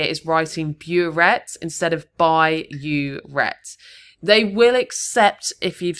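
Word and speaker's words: burette: One common mistake here is writing bureet instead of by uret. They will accept if you've spelled it incorrectly, but phonetically it sounds the same.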